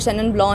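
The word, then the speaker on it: Chenin Blanc: उसमें भी हमारा जैसे शेनन ब्लॉ है, दैट इज़ वाइन, तो हमें अगर हम पढ़ें तो वो थोड़ा अलग स्पेलिंग है, तो प्रोनाउंसिएशन इज़ डिफरेंट।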